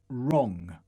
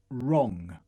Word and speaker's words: wrong: Буква W не произносится, если за ней стоит R. To write. To write. Wrong. Wrong.